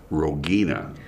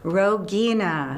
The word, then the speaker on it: Rogina: And thank you for allowing me the opportunity to pronounce my name correctly. And it is Rogina. Rogina.